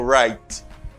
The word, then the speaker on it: write: W doesn't pronounce in this word. W pas prononcer dans mot right.